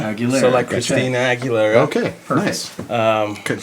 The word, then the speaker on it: Aguilera: Uh yeah, also tell us how to say your last name cuz I always spell it wrong. Aguilera. Aguilera.